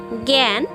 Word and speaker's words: জ্ঞান: সেক্ষেত্রে এর উচ্চারণটা গ অথবা গ গ এর মতো হবে, যেমন জ্ঞান এবং যোগ্য।